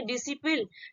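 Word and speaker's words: discipline: तो यहाँ पे देखिए DISC, और सबसे पहले क्या है आपका, एस आया है, उसके बाद आपका क्या आया, यहाँ पे सी आया। तो सी क्या करेंगे हम, इसको साइलेंट हो जाता है और इसको हम प्रोनाउंस नहीं करते हैं, ठीक है, प्रोनाउंसिएशन नहीं करते हैं। तो इसको हम किस तरह पढ़ेंगे, डिसिप्लिन, ठीक।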